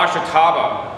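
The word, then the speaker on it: Ashitaba: Oh, ashataba. How do you spell it?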